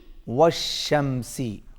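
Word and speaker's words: وَالشَّمْسِ: व शमसी व शमसी वश शमसी वश शमसी यहां पर भी देख रहे हैं व के बाद अलिफ लाम ये साइलेंट है ये पढ़ने में नहीं आएगा देखने में जरूर आएगा वश शमसी वश शमसी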